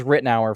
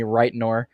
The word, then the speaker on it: Rittenauer: My last name is Rittenauer for those that don't know how to pronounce it, because usually people call me Reitnor.